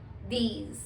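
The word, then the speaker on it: dix: are just starting विद यू एंड वी are pronounce it एज वीथ next is number nine which is enough enough number 10 इज दीज दीज यू can write down the pronunciation as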